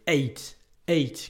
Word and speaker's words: ate: Attention à la prononciation de ate. On a vraiment envie de dire they ate their breakfast. Non, they ate, comme si c'était le chiffre 8.